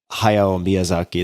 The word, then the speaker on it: Hayao Miyazaki: called spirited away by hayao miyazaki that's how you'd say his name in english it's it's a just